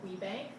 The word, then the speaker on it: WBENC: business enterprise National Council so we call it we Bank wbenc which we pronounce it and I represent revenge